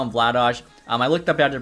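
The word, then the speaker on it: Vladař: of people don't understand why I call him Vlados I looked up had to pronounce his name in check which is obviously where he's from and it's pronounced Vlados so hopefully people can stop giving a hard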